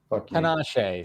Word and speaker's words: Tinashe: Tina She's bitch and cancel day. Nice. We say her name wrong, right? Mm-hmm. What is it? Tinashe. Sorry, Tinashe. Yeah.